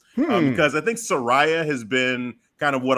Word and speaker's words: Saraya: the gist of it it's Soraya yes phonetically it's like you're saying sir and then Rey like Rey Mysterio and then yeah brother